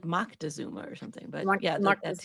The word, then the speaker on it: Moctezuma: I want to say Montezuma. Montezuma. That's not it. Is it? It's like Moctezuma or something.